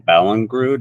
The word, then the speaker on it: Ballingrud: We're talking with Nathan Ballingrud. Am I pronouncing that correctly?